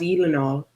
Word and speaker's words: Gyllenhaal: His last name is pronounced Gyllenhaal.